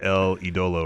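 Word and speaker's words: El Ídolo: I think he said like El Idolo or something like that. Oh my God! If you just listen to this theme song, it's the correct pronunciation.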